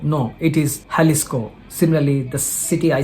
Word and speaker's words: Jalisco: only speaks Spanish espanel in Spanish language you should pronounce j as ha example there is a state called as j a l i s c we tend to call it as Jalisco no it is halisco